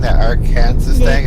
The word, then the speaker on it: Arkansas: Where's an L in Arkansas? There's no W's in it. But the S at the end is silent, so.